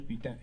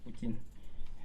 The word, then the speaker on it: Poutine: Oh, guerre d'Irak, Saddam Hussein, Vladimir Putin, pardon, Poutine. Bon, en anglais, ça s'écrit comme ça, ça s'écrit putain.